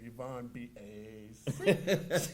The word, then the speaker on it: Yvonne B. Acey: and his wife, my wife Mary pronounces her name Yvonne B. Acey. She says it like that.